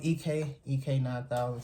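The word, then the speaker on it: Ik 9000: I'm EK 9000 spelled with an I, pronounced E.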